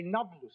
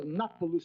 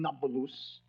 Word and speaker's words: Nablus: The Arabs have difficulty pronouncing a P, so Napulus became Nablus.